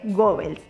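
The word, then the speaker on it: Goebbels: Bueno, Marcos, sí se pronuncia Gebels.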